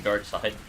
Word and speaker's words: Darkseid: kill I think it's Darkseid Dark Side Darkseid I would assume Dark Side dark side but it's spelled c it's spelled s-e-i-d yeah it's still dark side you like let's call